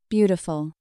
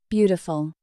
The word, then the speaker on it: beautiful: Beautiful. Beautiful. The flowers in your garden are very beautiful. The T in beautiful is often pronounced like a soft D in American English.